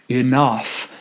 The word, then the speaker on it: enough: If I say soon enough, then I'm emphasizing the first syllable, and the syllable that needs to be emphasized is the second syllable, enough.